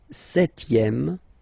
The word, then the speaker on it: septième: Le septième, so remember we don't pronounce this P here. Le septième, la septième.